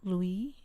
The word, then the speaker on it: Louis: late night raid of her apartment and louisville louie louie notice i gotta stop i i gotta